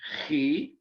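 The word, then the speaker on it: chi: v and then um also an e sound but with a c h german ch or a scottish ch as in the german word law or the scottish word law you've heard of loch ness monster the scots make uh in the back of their throats for this letter it's c-h-i he and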